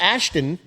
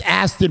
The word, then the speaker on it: Aston: I'm from America, too, It's not Ashton, but okay. It's Aston Martin.